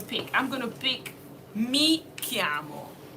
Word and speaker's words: mi chiamo: I'm going to pick mi chiamo. Mi chiamo.